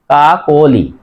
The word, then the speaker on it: কাকলি: সাথে কি আছে অ, উচ্চারণ করার সময় কর সাথে ওকার হবে কা, কয়কারে কো, লয় সেতে লি, কা কোলি, তাহলে উচ্চারণ হবে কাকলি। এই মাঝের যে দেখো অ, কর সাথে অ আছে, এই অর উচ্চারণ ও এর মতো হবে কাকলি।